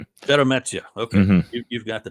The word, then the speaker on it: Sheremeta: Roman Sheremeta, is that how we pronounce the name? Sheremeta. Sheremeta.